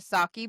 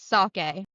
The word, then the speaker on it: sake: We went to Saki Blue. Saturday, Lil got pronounced sake.